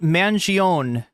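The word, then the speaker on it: Mangione: it's called It's pronounced Manion the E is silent Luigi's mangion he had back surgery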